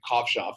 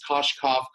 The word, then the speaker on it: Kovshov: Kovshov. It's like it's Koshkov, Kovashov. I've had it all.